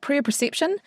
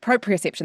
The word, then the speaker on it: proprioception: is that it's called prayer perception perception proprioception that's how you say it so the understanding